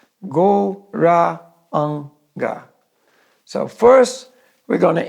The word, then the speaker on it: Gauranga: For this meditation, we're dividing Gauranga into 4 syllables, Gauranga.